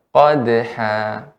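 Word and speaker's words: قدحا: Qad. Tidak ada hamzahnya. Qadha dengan qadha. Yang benar qadha.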